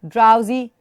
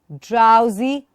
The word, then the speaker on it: drowsy: Draw, drowsy, ducks and drakes. Draw, drowsy, ducks and drakes. A lot of d. Draw, drowsy. And remember the ow sound here. Drowsy. Don't say drowsy.